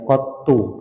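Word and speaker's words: قطّ: Jangan ditanwin ya, qattu gitu bacanya.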